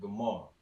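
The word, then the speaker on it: גמר: double check pretty much so Goomer in English completion in the Hebrew you would have pronounced it gamar so that's going to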